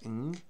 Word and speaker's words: Ng: Celeste Ng, born 1980, American writer and novelist.